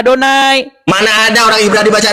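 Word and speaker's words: אדני: adonai di mana Iya Lord ini dibaca sama orang Ibrani bacanya adonai Mana ada orang Ibrani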